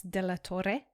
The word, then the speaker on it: de la Torre: I have Carlos de la Torre with me.